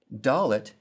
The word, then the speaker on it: Dalet: Dalet sounds like the D in day.